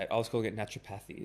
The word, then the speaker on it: naturopathy: I was calling it naturopathy. It's fine. Naturopathy, naturopathic, it's all the same.